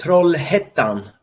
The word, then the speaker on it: Trollhättan: And then our city then, Trollhättan. This Hettan, the A with 2 dots over, you pronounce it Ä. So Trollhättan and University West.